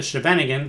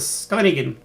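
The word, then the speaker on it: Scheveningen: play e6 i think my friends in europe have told me to pronounce this the scanigan very variation i used to call it the shevanigan but they said no no no dan it's the scanigan school the scuba negan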